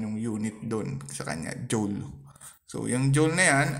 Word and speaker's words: joule: Abbreviated J, letter capital letter J, pronounced as joule, and named in honor of the 19th century English physicist James Prescott Joule.